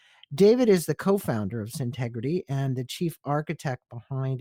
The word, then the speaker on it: Syntegrity: I always want to not pronounce that right. Syntegrity.